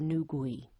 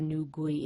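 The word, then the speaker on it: Nü gui: to talk about the new gui i hope i'm saying that correctly i've gone through several pronunciations to try to get that right but i think that is how it's pronounced and new gui refers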